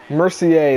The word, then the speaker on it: Mercier: Mercier, that's how you pronounce it. It's not Mercer, it's Mercier.